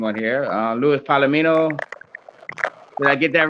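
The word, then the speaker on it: Luis Palomino: Louis Palomino. Did I get that right, Paul? Yeah, Yeah, okay. Louis Palomino, you're correct.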